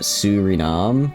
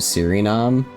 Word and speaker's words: Suriname: I guess, yeah, because I guess Sue, like S-U-E, is like a su sound. I guess I saw like S-U-R and I was like sir, kind of like a instead of a ooh.